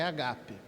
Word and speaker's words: ágape: E naquele tempo, a palavra menos usada para amor era a palavra ágape, ou agape. Talvez mais certa pronúncia é agape.